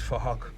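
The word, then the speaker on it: Phuc: His name is Fahak, but it's spelled with a PH, so it sounds like Fahak.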